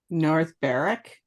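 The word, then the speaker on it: North Berwick: and this in the next couple of names North Barrack yes oh very good points well done two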